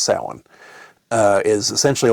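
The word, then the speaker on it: Samhain: Um it's s a m h a i n um which you would think is pronounced sam hayne. Uh which some people do pronounce that way, but that's incorrect. It's sin.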